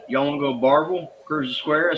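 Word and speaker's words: Barbourville: It was when you pronounce it as it's spelled, it's pronounced Barberville." Okay. He said, "Uh, y'all want to go to Barville, Cruz Square?"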